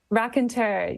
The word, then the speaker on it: Raconteur: Did we say it in a French way? I mean, that's how I would read it, right, Clara? Is that how you say it, Clara? Raconteur, yeah.